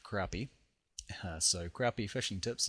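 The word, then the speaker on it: crappie: And right at the top here is um well I want to say crappy fishing tips, but I'm pretty sure that's pronounced crappy.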